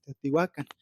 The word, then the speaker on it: Teotihuacán: la variante de Guerrero todas las palabras se pronuncian de manera tien un acento prosódico en la penúltima sílaba por tanto Teotihuacán tetihuacan coyuacan pero de acuerdo